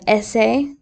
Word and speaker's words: ese: Then you have essay, like you need to write an essay.